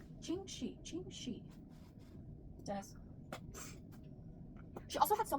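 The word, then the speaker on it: Ching Shih: Ching Shi. And she had a bunch of. Let's put a counter every time Kelly pronounces it wrong. I'm gonna pronounce it. It's like it's Ching Shi.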